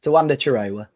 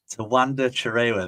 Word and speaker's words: Tawanda Chirewa: Chirewa, Tawanda Chirewa. Tawanda Chirewa, there we go.